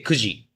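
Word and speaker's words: 九時: Yes, you can use but it it depends on like so you don't say QG you say 9 if the hour is 9ine you say kooji you don't say q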